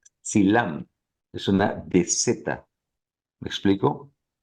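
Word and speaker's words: Dzilam: final teash para arriba está el silam que realmente se pronuncia silam es una dez me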